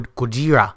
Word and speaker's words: Gojira: And today, we're going to talk about Shin Godzilla, or Gojira, as it's pronounced.